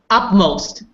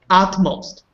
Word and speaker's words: utmost: most if not all it's hard to put you and t together utmost try again utmost most